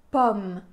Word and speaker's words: pomme: a a pomme pomme pourquoi parce que après ce son le son final du mot c'est un son de consonne c'est le son m pomme c'est le dernier son de cette syllabe et donc dans ce cas-là on a un o ouvert pomme chausson au pomme vous